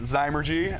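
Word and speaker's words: Zymurgy: like the the magazine yep how do you pronounce it again there we go it's dimer gee Margie which is the science of fermentation essentially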